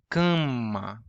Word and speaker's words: cama: And when we have like a stress syllable, kan, preceding an unstressed syllable that has a nasal consonant, that's very hard to remember. It infects the previous, or it contaminates the previous syllable, and it becomes nasal. Cama, câmera, banana.